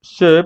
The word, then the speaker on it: ces: que sería el c Recuerda que este Sí suena e se se vale Y así es como